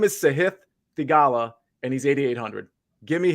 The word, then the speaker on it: Sahith Theegala: Even when they pronounce it right, they'll say it again and they'll pronounce it wrong. His name is Sahith Theegala, and he's 8,800.